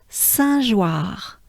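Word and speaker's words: Saint-Jeoire: So here, once again, we have the sound un, very important sound in French, un, as in one, un, as in Dunkerque, as in we had Vinzier, and here we have Saint. Easy enough? and then joie, joie.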